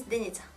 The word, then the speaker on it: Denita: And my actual name is Denita. It kind of sounds like Denise, you know.